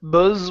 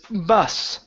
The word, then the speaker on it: bus: this word right here instead of Buzz was doing this is bus okay an unvoiced S okay um let's see